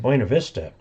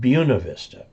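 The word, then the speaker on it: Buena Vista: Colorado Central Colorado uh that looks like buav Vista but but everybody there calls it buav Vista so there we go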